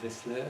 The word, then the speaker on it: Wessler: vous en parlais tout de suite, de Walter Wessler, c'est comme ça qu'on prononce.